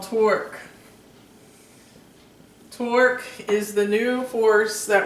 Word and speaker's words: torque: Torque is the new force that we're studying today. T-O-R-Q-U-E, pronounced torque.